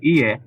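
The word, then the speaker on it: いいえ: No is ie. Yeah. Ie. Knee, like a knee or a e? Ie. Knee. Ie.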